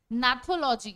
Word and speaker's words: Gnathology: Gnathology, it is G silent over here, okay? G is silent.